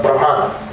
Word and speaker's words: Brahman: Brahman, I know Gurudev pronounced it differently, but I pronounce it like Prabhupada was saying, in a neutral, because it is more characterizing the neutral aspect.